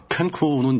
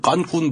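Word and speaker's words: Cancún: 캔쿤은 영어식 발음이고 네. 실제 원어 발음은 깐쿤 비슷하게 될걸요.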